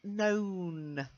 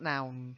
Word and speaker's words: known: Then known, to know and have known. To know, knew, have known. So known, April, not noun.